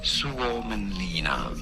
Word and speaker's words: Suomenlinna: Suomenlinna.